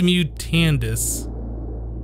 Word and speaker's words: Mutandus: I think I was saying it wrong for the last few episodes. I believe it's Mutandus.